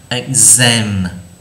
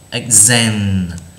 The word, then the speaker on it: exam: Đôi lúc cái chữ x, cái chữ x này sẽ được đọc là gz, ví dụ như là exam, exam, exactly, exactly, nó là chữ z đúng không?